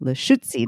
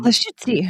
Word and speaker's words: Lushootseed: dialect of Lushootseed, which when I try to pronounce it sounds to me like poetry and a sneeze all at the same time. Lushootseed. Lushootseed.